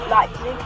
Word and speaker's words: Leipzig: Right, Leipzig, that's how you say it.